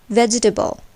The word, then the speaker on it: vegetable: table of nine but in vegetable where the first part is accented table is shortened to the bar and we say vegetable so also compare late